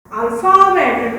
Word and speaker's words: alphabet: तुम नोटिस किए F sound हो रहा है, देखो feet, graph, flamingo, laugh, अल्फाबेट, टॉफ सब F साउंड कर रहा है।